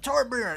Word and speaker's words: Torbjörn: It made me laugh so hard when Torbjörn's like, Torbjörn, it's Torbjörn! Like telling people how to say it with like a Dwarvish accent.